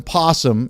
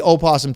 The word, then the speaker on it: opossum: So in case you're wondering, that's how the opossum, possum, as Art Ross says, spelled opossum, pronounced possum. I've heard people say opossum too, so we're having a lot of fun.